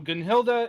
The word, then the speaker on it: Gunnhildr: I know there's an R at the end there, but it's Gunnhildr. That's how they pronounce it in game anyway.